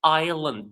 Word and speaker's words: island: Greenland is a country in Africa, a large island in the Arctic Island, though it's written with an S, we pronounce it island, a small city in Europe.